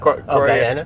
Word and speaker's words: Guyana: Is there like a hierarchy to being to having your parents from, how do you pronounce it? Guyana. Guyana, sorry.